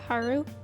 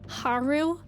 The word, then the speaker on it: Haru: able to contact Haru is it like Haru or Haru because I've been saying Haru like with the emphasis on the U but I think they the voice actors say Haru like the emphasis on the a in game the emphasis yeah they